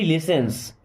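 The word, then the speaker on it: listens: नो बडी लिसेंस, कोई नहीं सुनता। यहां पे टी साइलेंट ना, लिसेंस। नो बडी लिसेंस, कोई नहीं सुनता।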